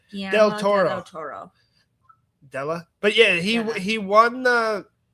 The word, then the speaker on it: Guillermo del Toro: Guillermo del Toro. I think there's an ad, Guillermo del Toro. Whatever the fuck his name is. Guillermo. Well, Guillermo, I think you're right. Guillermo del Toro.